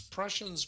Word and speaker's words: Prussians: sounds sounds like Russians it Rhymes it rhymes with Russian yeah totally it is I'm going to it's prussians but less mhm it's that one letter that makes all the difference seems to it's like